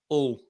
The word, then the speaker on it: Hull: Yeah, we don't pronounce the H. It's like all.